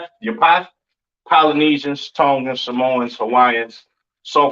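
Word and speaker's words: Japheth: East Indians all right next we have jaffet all right or japet some people like to call it right um pronounce Yap in Hebrew these are your so-called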